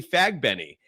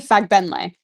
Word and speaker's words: Fagbenle: score first is Temi Fagbenny, plus 650. Did I pronounce that correctly? I'm sorry? Temi Fagbenle. Fagbenle. Oh, I'm sorry. I thought there was an I.